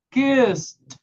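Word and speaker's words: kissed: Hago ques, agrego una E y una D, pero como termina en S, lo voy a pronunciar con T. ¿Qué es? Sí o sí. Kist.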